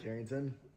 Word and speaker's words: Carrington: my name uh yeah so I I say kington kington what should I call